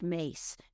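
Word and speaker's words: Myss: Her her last name is spelled M YSS, but it's pronounced Mace.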